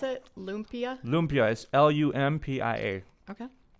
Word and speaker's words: lumpia: So how do you pronounce it? Lumpia? Lumpia is Lumpia.